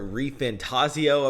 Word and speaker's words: ReFantazio: Hey, yo, everybody, it is Voltage, and we are here with Metaphor ReFantazio, I believe is how it's pronounced.